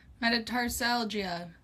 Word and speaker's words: metatarsalgia: Um the last one we're going to cover is um ball of foot pain, or what I'm going to confidently mispronounce metatarsalgia.